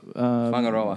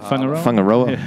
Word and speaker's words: Whangaroa: Whangaroa. Whangaroa. But the funny thing is, it's spelt like...